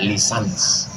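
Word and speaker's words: licence: LC itu singkatan dari licenc tulisannya licen C. Cara membacanya lisans.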